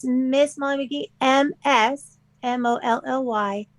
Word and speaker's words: Magee: And then McGee, everybody remember, is spelled MAGEE.